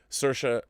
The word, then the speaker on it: Saoirse: Saoirse, as she will tell you, like inertia. So if you ever want to know how to say her name, it's Saoirse Ronan. And remember, Saoirse like inertia.